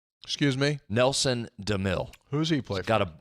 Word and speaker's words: DeMille: think I'm a no doubter anything by Nelson DeMille excuse me Nelson DeMille who's he playing got a got a bunch